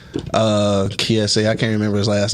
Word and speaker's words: Kiese: It's spelled like Keith, but I think it's Kiese. Kiese.